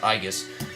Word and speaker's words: aegis: is a i guess aegis shield which i believe is pronounced igus uh who can wear